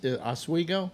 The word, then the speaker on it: Oswego: Ladies and gentlemen, Lake Oswego, or Oswego? Is that how it's pronounced?